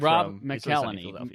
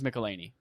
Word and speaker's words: McElhenney: from yeah he's mad Rob McElhenney Rob McGee Lanie Rob I think it's Mick Eleni Rob Nicolini apparently Ubisoft is producing their